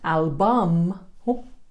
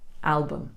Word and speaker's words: album: Not album, bum, but album.